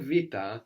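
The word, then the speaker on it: βήτα: So we said vita, the letter that looks like a B is pronounced like a V sound in Greek, like in the word book, which is Βιβλίο.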